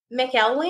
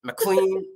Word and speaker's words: McElwain: pronounced many different ways mcleen McQueen I've had the whole Spiel yeah well I'm very phonetic so I really hope that it sounds exactly like it looks when I look at